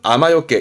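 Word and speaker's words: 雨避け: 그래서 발음은 아마요케.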